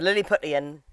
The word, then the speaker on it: Lilliputian: So then this leads into part 2, which is called Lilliputian Hitcher. Is that how you pronounce it? Yeah, the Lilliputian Hitcher.